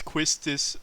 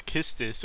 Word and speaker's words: Quistis: pronounce Quistis as Kistis, we might as well pronounce Sabin as Mash.